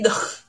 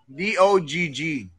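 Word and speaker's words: Dogg: Si Dog? Yeah. John! Pero hindi, it's D-O-G-G.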